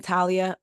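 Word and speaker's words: Thalia: latest woman to Sue I'm saying Talia but it's spelled t h a l i a so I'm not sure Talia Graves the latest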